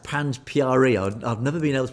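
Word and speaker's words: Panj Pyare: Yes, in Panj Pyari, that's how to pronounce Panj Pyari, this concept that dates back to the original Khalsa from the last living guru. It is pronounced Panj Pyari.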